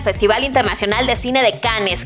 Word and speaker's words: Cannes: La edición número 71 del Festival Internacional de Cine de Cannes, que en realidad se pronuncia Cannes, inició este martes 8 de mayo y desde entonces el tema ha sido trending topic.